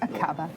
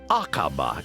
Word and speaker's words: Aqaba: Aqaba? Is that how you would pronounce it? Yes, Aqaba. That's right, Iris. It's Aqaba in Jordan, 5.5 hours flying time away.